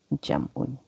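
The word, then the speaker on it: جمع: That is if you wakaf at you don't have to pronounce the dun, tun, or un thing. Yeah, so it's just wahid, tasniyah, jam. Yeah, that's why it sounds like jama, but actually there's a sukun on the mim.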